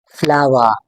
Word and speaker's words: flower: फ्लावर फ्लावर।